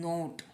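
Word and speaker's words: knot: और यहाँ पे इसको बोलते हैं नोट, इसका प्रोनाउंसिएशन है नोट। ठीक है, के का ये प्रोनाउंसिएशन नहीं होगा, नॉट होगा।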